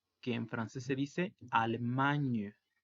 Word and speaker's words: Allemagne: Y si decimos mexicanas, sería mexiquen, sin nasal, y la S también escrita al final, pero sin pronunciarse. El siguiente país es Alemania, que en francés se dice Allemagne.